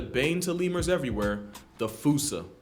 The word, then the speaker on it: fossa: to lemurs everywhere the fusa although with its spelling I'm pretty sure it's actually fossa but the day I pronounce it like that is the day I lay my childhood to rest the Foos is pretty